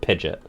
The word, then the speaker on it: Pidgeot: paratext that said that the true pronunciation of Pidgeot was Pidgeot? I remember seeing that as a kid and being like, go fuck yourself. Go fuck yourself that it's called Pidgeot.